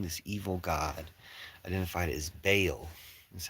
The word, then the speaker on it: Baal: So it doesn't really matter because the god that we're not sure how to pronounce their name is, although somebody did tell me in the chat, it's Baal.